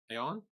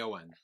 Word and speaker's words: Aon: It sounds like on on.